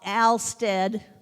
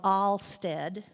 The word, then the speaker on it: Alstead: and Deering and Al Alstead which is never called allstead uh I I know